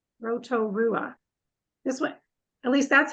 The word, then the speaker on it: Rotorua: did a great job standing it out it's Roto Rua Rotorua this way at least that's how I was